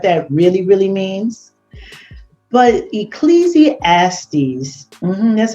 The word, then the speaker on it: Ecclesiastes: But Ecclesiastes, that's how you say it, 10 and 19 says, money answereth all things.